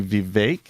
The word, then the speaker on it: Vivek: in the vecchi wait you say vivec last part rhymes with cake the vague he's saying it should be Vivek I was wondering why